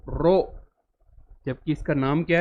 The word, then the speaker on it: rho: तो ये जो फॉर्मूला है R is equal to रो एल बाई ए, इसको प्रोनाउंस करते हैं RHO, रो, जबकि इसका नाम क्या है, resistivity only depends on material of the conductor.